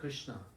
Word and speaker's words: Krishna: of bliss two syllables in the word Krishna Krishna Krishna means one who has all opulence.